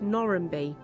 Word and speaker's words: Normanby-le-Wold: And one of the villages it passes through is Normanby-le-Wold. Normanby-le-Wold is one of the highest settlements, and its name was traditionally pronounced Norranby.